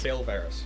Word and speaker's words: Kale Varus: Kale Varus. Really easy one. It's pronounced like Kale from League. It's literally Kale and Varus.